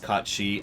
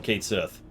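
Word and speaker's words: Cait Sith: the way right now i know it's pronounced caught she i don't care call him kate sith forever queen's coffin he takes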